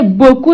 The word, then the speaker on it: beaucoup: Mais on ne prononce pas. Deuxième phrase. Abdoulaye nous a acheté beaucoup de mangue.